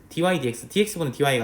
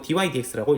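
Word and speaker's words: dy/dx: dy dx dx분은 dy가 아니고 dy dx라고 읽는다.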